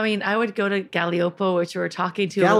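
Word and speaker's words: Gaglioppo: I mean, I would go to Galliopo, which we were talking to. Galliopo? Yeah. Nobody ever heard of that. No, spell it.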